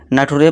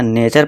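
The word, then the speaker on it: nature: अब यहां कुछ दोस्त कहेंगे कल्टर होना चाहिए था फीटर पढ़ेंगे इस तरह इसे फ्यूटरे पढ़ेंगे नटुरे पढ़ेंगे फ्रैक्टर पढ़ेंगे पोस्टोर पढ़ेंगे लेकिन दोस्तों ये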